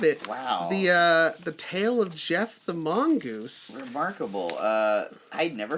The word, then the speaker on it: Gef: Not Geoff like Joffrey. No, there's no O. G-E-F. G-E-F. Never in any of the things I was reading and looking up did they explain at what point he informed them how to spell his name. They weren't. Could it have been Gef with an accent? No, this is not a GIF situation. This is soft G.